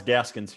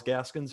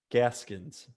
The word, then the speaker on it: Gaskin: So am I allowed to pick Myles Gaskins here? I like Only it. if you say his name right. Myles Gaskins. No, Gaskins. There's no Gaskin. S. There's no S at the end.